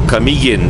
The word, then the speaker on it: Camiguin: If you guys want to Google this, it's spelled Balingwan, Balingwan. That is the port from Mindanao going to Camiguin.